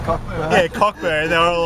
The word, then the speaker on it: Cockburn: It was seriously spelled C-O-C-K-B-U-R-N. Yeah, Cockburn. Yeah, Cockburn. They were all like Cockburn.